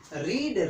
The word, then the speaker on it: read: रीड रेड रेड पढ़ा जाएगा, हालांकि स्ट्रॉन्ग वर्ब है, लेकिन इसमें प्रोनाउंसिएशन में उच्चारण में भिन्नता है।